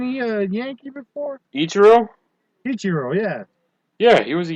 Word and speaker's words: Ichiro: Ichiro, yeah.